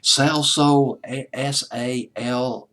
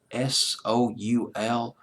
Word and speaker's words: Salsoul: Later on, though, they signed with, and I can't pronounce this word, it's Salsoul, Salsoul, like Sausalito Summer Night or something like that.